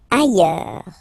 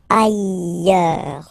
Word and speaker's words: ailleurs: Ailleurs. Look, final S not pronounced, and then you've got this y sound. Ailleurs.